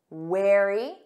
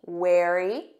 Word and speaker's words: wary: them side by side remember weary repeat after me weary tired or exhausted wary repeat after me wary cautious or careful don't worry